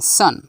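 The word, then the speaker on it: son: শিয়াল এখন তোমরা শিখবে কখন ভাওয়েল ও এর উচ্চারণ আ হয় যেমন এস ও এন সান এস ও এন সান নয় এস ও এন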